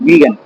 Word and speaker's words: vegan: नहीं नहीं देखिए, उसका स्पेलिंग है VEGAN, वीगन।